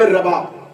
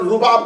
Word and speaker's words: رباب: اس شہزادی کی والدہ گرامی جناب رباب، اس کا تلفظ اردو زبان میں اکثر رباب کہا جاتا ہے. پیش کے اعتبار سے اسے نہیں پڑھیں گے، پیش کے ساتھ پڑھیں گے تو غلط ہو جائے گا. رباب پیش کے ساتھ پڑھے تو ساز کو کہتے ہیں. اگر زبر کے ساتھ پڑھیں گے تو تلفظ ٹھیک ہے.